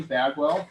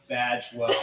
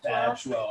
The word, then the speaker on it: Badgewell: So, hi everybody, Chip Paul, and I'm here with Mattie Bagwell. Very lucky to have Mattie Bagwell here. Badgewell. Golly. It's okay. It's either mispronounced or misspelled.